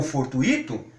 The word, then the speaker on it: fortuito: Então, se as pessoas saírem por aí e quiserem pronunciar intuito, circuito, gratuito ou fortuito, sem problema nenhum. Nós estamos sugerindo que sejam pronunciadas de acordo com muito, certo?